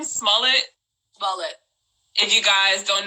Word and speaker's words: Smollett: How you pronounce his last name? Smollett.